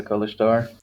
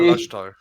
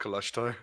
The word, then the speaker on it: Kalashtar: people known as a color star? Roll intelligence or history check. History, don't fail me now. Not to be that It guy, but it's failed pronounced me. Kalashtar. It's pronounced Kalashtar.